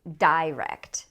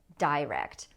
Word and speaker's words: direct: Some people say direct. They have the stress on the first syllable, direct. And you can say either way, it doesn't matter. You will hear both.